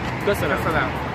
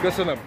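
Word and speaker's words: Köszönöm: Kösönöm. Kösönöm. Hello, hello. So I just learned a very important phrase, which is két sör kérek, which means two beers, please. Thank you. Kösönöm.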